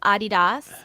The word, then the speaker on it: Adidas: Fun fact: did you know that Adidas is pronounced Adidas? Really? Adidas? It's German. It's German. It's Adidas.